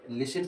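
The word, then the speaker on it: listen: तौर से देखते है जैसे यहां मैंने लिखा है लिसिन अब आप देखो इसको क्या पढ़ते हैं लिसिन पढ़ते हैं जब टी एल आई एस टी इ एन ये टी साइलेंट होने का रीज़न कि मैंने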